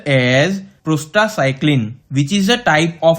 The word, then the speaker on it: prostacyclin: PGI2 is pronounced as prostycl which is a type of a prostaglandin.